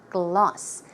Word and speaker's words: gloss: It's not k sound. There is no C or K. It's a G. So the pronunciation should be g, gloss, lip gloss, lip gloss.